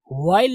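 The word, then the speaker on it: while: फॉर अ वाइल का मतलब थोड़ी देर, कुछ लोग इसको वाइल पढ़ते हैं, वाइल, वाइल नहीं होता, वाइल, एच को बहुत ही एकदम पता भी नहीं चलता है, समझे, साइलेंट ही मान के चलो इसको, वाइल, okay, for अ वाइल।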